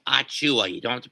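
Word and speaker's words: Achiuwa: you, but it's pronounced Achua. You don't have to pronounce it as Achua. The I is fucking silent, you son of a bitch.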